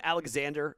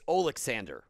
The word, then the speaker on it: Oleksandr: They're calling him Alexander. It's not Alexander. It's Oleksandr. That's how you say his name.